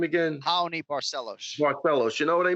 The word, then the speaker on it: Raoni Barcelos: not asking for but now, how do you pronounce his name again? Raoni Barcelos.